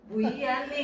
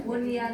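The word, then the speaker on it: بنيان: Bonianun ya Bani Bonian nah kan harusnya kan Buani gitu kan karena kan nun mati ketemu ya nih nih tapi ini karena satu kata dibacanya bunyan sama dunia Bu Dunia iya kan harusnya duy ya.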